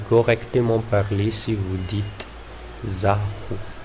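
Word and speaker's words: izaho: Mais en parlant, si vous dites Zah, vous n'avez pas envie de prononcer les I, puisque ça charme mieux avec Zahu. Donc, garçon, tout comme les filles, ici, normalement, on dit Zahu. Au lieu de dire Izahu. À Tananarive, on utilise Izahu.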